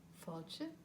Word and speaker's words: fáilte: a look at them in the first word we have an a with an accent it's the only accent we have in the language it's called a father and it makes the vowel long an a with an